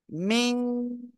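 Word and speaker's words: ميم: শিখেছি সেটা কি অক্ষর মিম কোন জায়গা থেকে উচ্চারণ হবে দুই ঠেটের শুকনো অংশ থেকে দুই ঠোঁটের শুকনো অংশ থেকে মিম উচ্চারিত হবে কয় আলিফ টান চার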